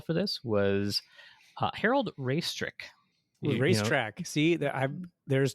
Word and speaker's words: Raistrick: Racetrack. See, there's 2 points that I hit. Raistrick. It's pronounced racetrack.